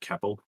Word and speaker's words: Kopel: That's probably pronounced Keppel, but that's minor.